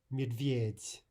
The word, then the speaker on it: медведь: Медведь, медведь. That final soft D actually sounds like a soft T.